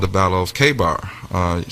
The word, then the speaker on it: Khaybar: called the Battle of Khaybar. Sometimes it's pronounced Khaybar or Khaibar.